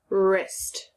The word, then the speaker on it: wrist: a m sound okay now we have er like in wrist your wrist okay that's going to be sometimes spelled wr so if you see a wr move myself out of the way if you see a wr you'll know that sounds like er most of the time